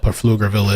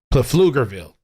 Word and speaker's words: Pflugerville: Nobody knows what the hell Pflugerville is. They say the P is silent. You know what? I prefer to pronounce it with the P. I want to pronounce that shit with the P. Pflugerville.